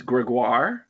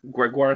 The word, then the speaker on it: Grégoire: before I butcher your name how do you pronounce that the full name is Gregoire Gregoire french-canadian I go by Greg I go